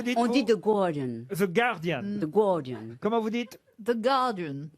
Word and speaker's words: The Guardian: The Guardian. Comment vous dites The Guardian. The Guardian. Normalement, effectivement, on dit pas le U.